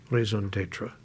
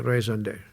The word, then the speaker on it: raison d'être: to your uh as the French would say, raison d'être. The French don't care what they do as long as they pronounce it properly. I assume I pronounced that reasonably well. A raison d'être.